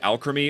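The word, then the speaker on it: Alcremie: Also, to break the fourth wall, I realized as I was writing this script that Alchemy is pronounced like alchemy because it's alchemic cream, just like Milcery is milk sorcery, not alcreamy.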